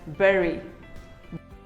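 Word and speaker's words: bury: Do you call it bhari, bhuri or bhuri? Well, none of them is correct. It is simply pronounced as berry. Berry. Say berry.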